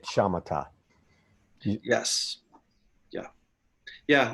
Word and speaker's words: Samatha: that a few times you spell it sama-top but say it shamata yes yeah yeah like